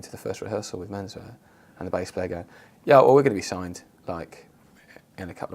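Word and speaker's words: Menswe@r: I never quite knew how to pronounce it. Have I done it? It's just Menswear.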